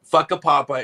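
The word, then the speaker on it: Whakapapa: So for those people listening, Fuckapapa is the correct pronunciation of the town.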